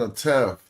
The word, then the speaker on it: atef: This is a reed leaf and then a tef. Tef ain't nothing. Tef is something, but this ain't tef. This is atef. So you say it. You don't pronounce the F.